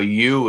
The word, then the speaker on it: ewe: a ewe is a female Really? goat or sheep. One of the two. Yeah, ewe. Even though it's spelled EWE and YOU, it still sounds the same.